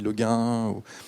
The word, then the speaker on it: Le Guin: Alors, je ne sais jamais comment le prononcer. On dit Le Guin. J'ai toujours eu du mal.